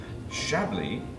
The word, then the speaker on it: Chablis: Chablis, since I was to pronounce my wine properly now that I'm in the States, I've got to pronounce it properly.